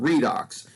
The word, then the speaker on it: redox: in chemistry uses redox instead of saying red and ox for reduction and oxidation we just pronounce the word redox and this is where